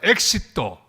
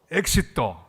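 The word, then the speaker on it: éxito: 단어 하나를 가르쳐 드리겠습니다 저를 따라 하시기를 바랍니다 엑시또 엑시또 발음이 좋습니다 이건 영어로 하면 엣지라고 마찬가지죠 출구란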